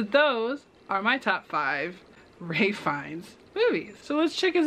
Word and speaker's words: Ralph Fiennes: work with someone that i used to call him ralph finnis because they thought that was how you pronounce it and obviously that's incorrect so those are my top five ray finds movies so let's check